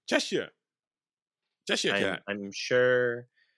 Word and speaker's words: Cheshire: They said I was saying, when I was saying Cheshire with my normal American dialect, but apparently it's Cheshire.